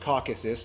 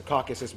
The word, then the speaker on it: Caucasus: Eurasia by the way it's pronounced Caucasus not caucus the Caucasus when a ton of